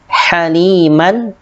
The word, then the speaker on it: haliman: Dibaca jelas, haliman ghafura. Haliman, tidak mal, tetapi haliman ghafura.